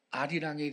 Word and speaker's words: 아리랑: 원래는 알이랑인데 여는 법칙이 작용을 한 결과 아리랑 이렇게 발음을 하는 거고 알알리오인데 아라리오 여는 법칙 때문에 그렇게 발음하는 거예요.